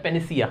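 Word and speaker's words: panacea: पहली बात तो इसका प्रोनाउंसिएशन मिस्टेक मत करना। पेन से एक वर्ड बनता है पेनिसिया। क्या होता है? पेनिसिया। क्या पढ़ा जाता है? पेनिसिया। बहुत सारे लोग पेनिशिया बोलते हैं इसको, पेनिशिया, जो कि गलत होता है।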